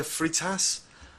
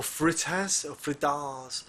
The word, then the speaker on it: Freitas: Geraldo de Freitas, or Fritas, however you wish to pronounce it, against Chris Gutierrez.